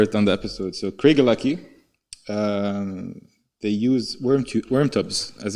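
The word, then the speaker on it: Craigellachie: of a kind 13 year old single malt craig lucky i had to youtube how to pronounce that by the way just in case i decide to cover it on the episode so craig lucky they use worm tubs as a way of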